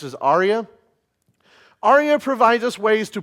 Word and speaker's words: ARIA: Another technique is ARIA, or you may have heard why ARIA. It's the Web Accessibility Initiative for Accessible Rich Internet Applications, often just pronounced as ARIA.